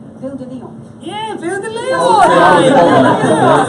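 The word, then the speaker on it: Ville de Lyon: Ville de Leon.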